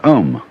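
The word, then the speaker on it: aum: mantras is of course the sound ohm that sound is used because if you spell it out a u-m it runs from the back of your throat to your lips and therefore it contains the whole range of the voice and for that reason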